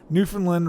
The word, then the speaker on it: Newfoundland: way Brian H says Newfoundland rhymes with understand new understand new fam